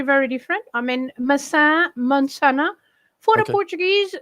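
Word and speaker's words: manzana: Mansana. Mansana. It's not very very different. I mean masa. Mansana. For the Portuguese, it's easy to understand, I think. Mansana. Yes. The Spanish pronounce all their vowels.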